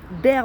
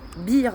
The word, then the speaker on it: bear: Alors souvent je prononce bear market dans mes vidéos etc, mais ça se prononce bear market parce qu'en fait c'est un ours, ça vient du mot ours, et bull market c'est bull pour le taureau.